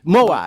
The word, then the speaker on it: Moai: Is that how you pronounce it, Dennis? Moai.